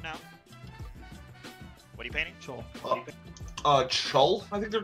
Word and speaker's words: Chuul: Yeah, they are called Chul.